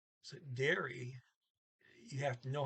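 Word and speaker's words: dere: how to pronounce that because it's d-e-r-e normal rules trailing e is ah so dara no it's dear e okay so you just have to know that to the double e sound and then e derry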